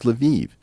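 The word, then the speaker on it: Lviv: way if I say Luv everyone's gonna correct me and say no no Eric it's leviv it's like no these spit these cities all have multiple pronunciations I I always thought of lavov was a Polish City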